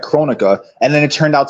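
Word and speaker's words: Kronika: Shang Tsung his powers and rightfully so it's pronounced chronica oh okay all right I'm sorry uh the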